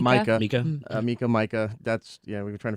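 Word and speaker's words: Mika: Micah.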